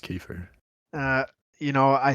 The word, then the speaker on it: kefir: that fucking yogurt shit, or you can use Kefir. yogurt. It's pronounced kefir. I think you'll find it's pronounced kefir.